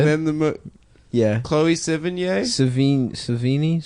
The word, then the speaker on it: Sevigny: Savini? How Yeah. do you say it? Chloe Chloe Savini. No, Yeah, it's No, it's Sevigny.